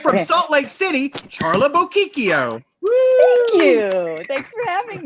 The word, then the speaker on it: Bocchicchio: From Salt Lake City, Charla Bocchicchio. You said it wrong, Billy. How do I spell it? How do I say it? Think Pinocchio.